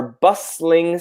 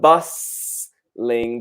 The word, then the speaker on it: bustling: York and Milan are bustling city is so they are very very busy yeah do you think one important thing the T is silent here bustling not bustling but bustling just like the word